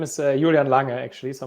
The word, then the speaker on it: Julian Lange: um my name is julian lange actually so i'm a german national even though patrick pronounced it like i'm like i'm french but i guess spandesk